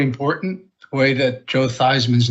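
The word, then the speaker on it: Theismann: Roger Valderi changed thought it would be better to have to change his name to Thyman to rhyme with Heisman for public relations reason.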